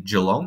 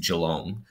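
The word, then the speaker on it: Geelong: for example with Australia people often say jalong they say Jong but having lived there it is along um a few others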